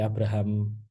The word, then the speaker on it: Abraham: Dan cara bacanya Abraham ya, nggak boleh Abraham gitu ya. Karena dulu Maslow pernah marah gitu ya, ketika pas di berbagai konferensi dia namanya dibacanya Abraham. Loh, kan itu emang standar bahasa Inggrisnya bacanya Abraham. Enggak, bacanya Abraham. Kenapa? Karena itu adalah bahasa aslinya sebagai keturunan Yahudi gitu ya.